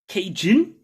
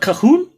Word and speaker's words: Cajun: Like when you say, oh, it's like Cajun, not Cahoon. Cajun? Cajun or what? It's how it's pronounced.